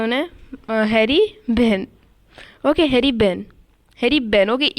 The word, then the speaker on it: Behn: Okay, Harry बेन। Okay, ई silent हो सकता है उसमें, इसलिए हैरी बेन।